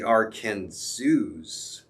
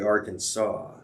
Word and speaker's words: Arkansas: So another fun fact, the Arkansas River may be the only river whose pronunciation changes as it crosses state lines. In Kansas, it is called the Arkansas.